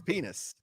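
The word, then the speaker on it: Penix: looked at pinnix and I learned how to say his last name right because it's borderline yeah it's it's penis it's real Sanders has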